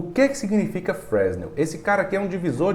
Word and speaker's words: Fresnel: aqui chamado fresnel tá Eu chamo ele de Fresno Aquino em defesa a pronúncia correta não é essa fresnel é uma coisa assim mas é muito complicado falar eu prefiro chamada de